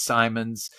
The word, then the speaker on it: Simonds: it is me my name uh Simmons Simons uh it's spelled s i m o n DS so